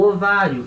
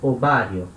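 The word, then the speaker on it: ovario: Na hora de falar, lembrando que essa letra UB tem som de B de bola, então ele, ovário.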